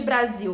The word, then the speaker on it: Brasil: Qual é a sílaba tônica de Brasil? Não é zil?